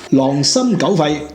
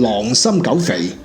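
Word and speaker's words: 狼心狗肺: 》裏邊，黎文又讀錯字啦，真係狼心狗肺。狼心狗肺，佢讀成狼心狗肥，哇！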